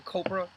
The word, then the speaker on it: Copra: We have Copra, #14 from Michael Fife, or it's actually Copra, I guess. It rhymes with Oprah.